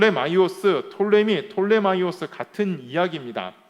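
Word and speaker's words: Ptolemy: 세력을 보았죠 오늘은 바로 그 셸 유쿠 서 톨레미 라는 그 두 세력에 대해서 두 나라에 대해서 뭐 보고자 합니다 자 먼저 프톨레마이오스 시대라고 합니다 프톨레미 돌 mi 오스 톨레미 톤의 마이어스 같은 이야기입니다 수 나는 이 단어가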